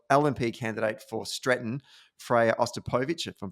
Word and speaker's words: Ostapovich: Firstly, you did pronounce her name correctly, Freya Ostapovich, and I had the joy of sitting next